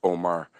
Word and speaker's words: Umar: Dan yeah Omar Sheikh it's spelled Umar Umar but it's pronounced Omar he's from western Canada